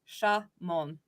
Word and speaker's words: Shamon: I've been corrected. It is Shamon. So I want to make sure I say the name right.